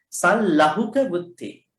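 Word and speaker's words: sallahukavutti: Some people pronounce it wrongly. Sal lahuka buddhi. Sal lahuka buddhi. How do we pronounce it? Sal lahuka. L.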